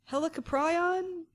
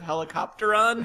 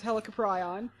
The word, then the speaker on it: Helicoprion: Helicoprion? I really, really like James's mispronunciation of helicopteron.